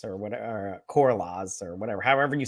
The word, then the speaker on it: Corlys: He leads the opposition to Karalas or whatever, or Corlaz or whatever, however you say his name. Lord Corley's. Corlys, yes.